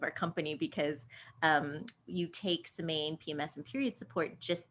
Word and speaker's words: Semaine: butchered American way. Yeah. So Semaine is exactly how we say it, and it does mean the week in French.